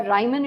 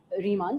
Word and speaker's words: Riemann: we study something called Riemann integration or Ryman integration as it is pronounced in several places but more like an indianized version is Riemann so Riemann integration what